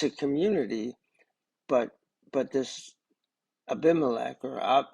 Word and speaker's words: Abimelech: community but but this abimelech or abimelech as it would be pronounced in Hebrew is Father God he's